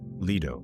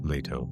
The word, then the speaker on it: Leto: First, we need to remember that she and her brother Apollo had a mother named Leto, or Leto, depending on how you like to pronounce ancient lost languages.